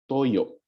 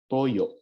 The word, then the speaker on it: toyo: sauce we call this Toyo Toyo okay not Toyo it's Toyo okay there's a glal stop here on the last syllable okay vinegar we call